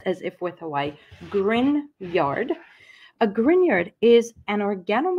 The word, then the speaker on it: Grignard: First of all, grineyard is spelled like this, but it is pronounced as if with Hawaii. Grinyard.